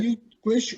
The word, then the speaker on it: YouGlish: Rebecca said, why are you Glish or just you Glish? It's Youglish. Youglish.